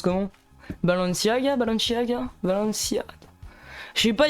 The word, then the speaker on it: Balenciaga: Tu nous as toujours pas montré ton pantalon Balenciaga, bah je peux pas, c'est Nadim qui le porte.